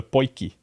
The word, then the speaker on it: potjie: Here in South Africa, we call it a potjie.